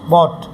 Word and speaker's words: bought: इसको हम लोग बाउट बोलते हैं. इट्स बाउट, बॉट.